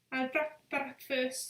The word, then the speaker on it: Bratwurst: Bratwurst, and the fact that I pronounced the W like a V, like Volkswagen, isn't it?